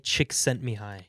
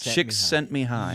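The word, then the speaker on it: Csikszentmihalyi: mihai mihai mihai now now apply the the silent l to the last name mihai sent me high nope six me how do you pronounce it it's mihai chick sent me high chick chicks chick sent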